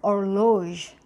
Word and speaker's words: horloge: So the H is not pronounced in the word. For example, this word over here is going to be pronounced as not hum, okay? And this word over here is going to be pronounced as horloge.